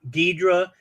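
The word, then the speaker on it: Ghidorah: it is is that when we were younger it was pronounced one way because that's how the the the the movies we were watching dur they Americanized all the names right so they Americanized the names so it would be gadora and then you have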